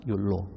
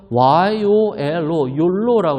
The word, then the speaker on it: YOLO: 욜로. 스펠링은 YOLO예요. 그게 바로 영어의 약자인데요. U에서 Y, only에서 O, live에서 L, once O. 그래서 YOLO, 욜로라고 그래요.